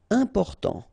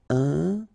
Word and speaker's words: important: Important. So final T not pronounced. And then remember, you've got this EM, and after that it's a consonant, so it is here nasal. Important.